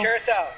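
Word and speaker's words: Curaçao: Carousel. Blue carousel. The way you're supposed to emphasize it, though. Curacao.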